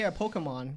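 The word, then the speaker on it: Pokémon: Yeah, I say Pokemon because I'm just used to slightly more of the Japanese pronunciation. Sure, yeah. But some people really put an emphasis on the key instead of the K. And that's fine too. I don't have an issue with it either way.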